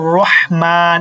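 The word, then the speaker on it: رَحْمَٰن: ঠিক আছে কি হবে রহম আর রহমান এখানে একটা টান রহিম এখানে একটা টান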